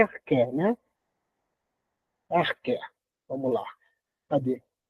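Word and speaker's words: ἀρχή: O arqué ou arché? Arché o eh na verdade se pronuncia arqué, né?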